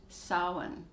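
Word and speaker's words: Samhain: version of halloween is spelled s-a-m-h-a-i-n and it's pronounced solon to the second full moon of the month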